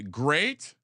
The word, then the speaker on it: Great: I'll I'll uh let's let's pronounce great his first name's great he's going on the list G re a t I love the way